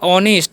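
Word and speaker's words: honest: है आगे समझिए लिखा ऑनेस्ट इसे नेस्ट नहीं पढ़ना ऑनेस्ट पढ़ते है ठीक है यहां पर एच साइलेंट होता है तो ऑनेस्ट किंग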